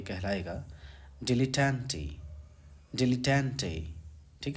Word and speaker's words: dilettante: मुताबिक पढ़ रहा था, इसका एग्जैक्ट प्रोनाउंसिएशन है डिला। ठीक है, डिलेटेंटे, डिलेटेंटे।